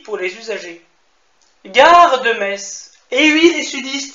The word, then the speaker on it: Metz: Gare de Metz. Et oui, les sudistes, ça se prononce Metz et non Metz. On n'est pas des boches.